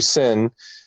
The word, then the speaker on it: Cin: Or how would you say Cin is his first name? So that's got to be Sin.